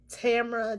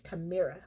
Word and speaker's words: Tamira: Well, first of all, they started saying my name wrong. They started calling me Tamara, Tamira, like everything. And I had to keep telling them like, "No. My name is Tamira."